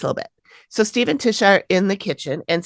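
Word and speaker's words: Tysha: client is named Tisha it is spelled t-y-s-h-a though okay like Taisha but it's Tisha something is attacking her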